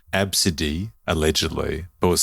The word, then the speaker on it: Abcde: and arrogantly professed that no no no it's pronounced absidy when it's spelled ABCDE everyone in that room